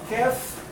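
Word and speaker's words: كاف: And qaf and kaf, they are really having the same point of articulation. But you will find if you try to pronounce that qaf is preceding kaf a little bit. Okay? The points of articulation, the place of the qaf is a little bit behind kaf.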